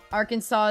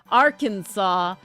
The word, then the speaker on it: Arkansas: Um, well, Arkansas stuck with the original French.